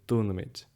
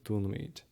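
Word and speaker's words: dúnaímid: The standard version does not have a fada on this I, so it would be dúnamid. But that's very uncommon in Munster. You almost always have this long vowel here, so dúnamid.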